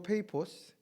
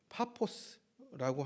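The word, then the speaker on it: Paphos: 여기서 바보라고 하는 지명은 영어로 페이포스, 헬라어로는 파포스라고 합니다. 우리 발음으로는 바보라고 번역이 되었습니다.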